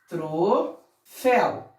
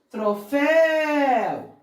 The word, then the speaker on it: troféu: Troféu. Troféu. Então, é uma palavra oxítona. A última sílaba é tônica, é a sílaba tônica.